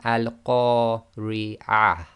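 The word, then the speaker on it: القارعة: Now, the way you've got to pronounce this is because that TaaMarBooTah is at the end of the sentence, we will pronounce that as if it's a ha and it's sakin.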